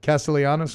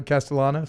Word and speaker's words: Castellanos: me for my pronunciation Castellanos no castalanos I said castanos right castanos C oh because it's two L's dou L the Y sound yeah that's on me